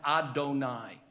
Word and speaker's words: Adonai: of the Divine in our sacred literature is pronounced Adonai but it is spelled yudhave of hey which